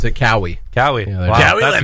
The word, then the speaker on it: Kawhi: Let's go see Kawhi. Or they'd probably mispronounce his name if they didn't know that. Let's go see Kenny Leonard. This kid Kenny. I heard someone pronounce it Cowie.